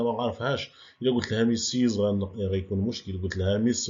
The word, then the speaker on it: Mrs.: وإلا كانت السيدة متزوجة غنقولو لها ميسيز كتكتب هذيك MRS وعندنا نقطة ولكن كنطقوها ميسيز.